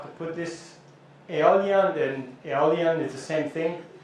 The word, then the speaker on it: Aeolian: put this Aeolian, and Aeolian is the same thing. This is kind of a Latin kind of spelling coming, so they use this AE, which is pronounced as E, and some people in